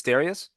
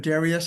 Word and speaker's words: Darius: It's Darius. You're one of the people that got it right on the first time. Yeah. Yeah. Let's go. I get many different pronunciations, but Darius is exactly the right one.